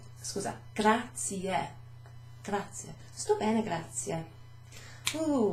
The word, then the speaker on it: grazie: Grazie. Grazie. Thanks. Sto bene, grazie. Grazie. There's an E at the end of that. It's not grazie. No. It's not gracias. No. That's Spanish. Scusa. Grazie.